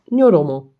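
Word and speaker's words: ニョロモ: No, this one I'm sure I pronounced it wrong. So this one it is Nyoromo.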